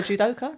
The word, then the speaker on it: judoka: He used to be a judoka. That's how you say it.